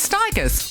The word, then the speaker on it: Stigers: Curtis Stigers rhymes with tigers and he knows everything.